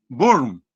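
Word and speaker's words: Würm: armando la glaciación de burn recuerde que los alemanes es término alemán a la w la pronuncia como si fuera v recuerde el término volkswagen no nadie dice volkswagen no la glaciación de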